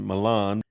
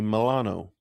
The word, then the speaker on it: Milano: In the west, we pronounce it Milan, but in Italy they say Milano.